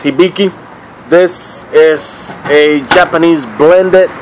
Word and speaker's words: Hibiki: are all right fellas hiiki I believe is the right pronunciation some of the people call it hiiki I believe it's hiiki this is a Japanese